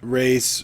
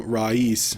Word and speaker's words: Raees: I've also heard it pronounced Race or Raees, but in the movie they were calling him Raees, so I'm going to say that.